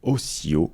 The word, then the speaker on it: OCIO: Avec cette version bêta de Photoshop, vous avez un nouveau système de gestion des couleurs open source qui s'appelle Ocio. Ça s'écrit O-C-I-O.